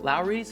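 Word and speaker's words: Lawry's: Next, America's favorite salt, rhymes with meow, please. Lowry's, meow, please.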